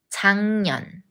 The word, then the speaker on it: 작년: 저희 방금 서울역에 도착했어요 작년 작년 Just like 생년필 when 기역니은 기역 becomes 이응 작년 작년 올해 날씨가 작년이랑 달라